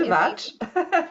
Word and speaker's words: Grzywacz: is a Grzywacz. yes. Thank you. I knew I was going to have a problem pronouncing It's that.